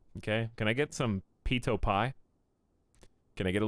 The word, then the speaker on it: pitot: I have no idea what it is, but I know it's not pronounced Pytot.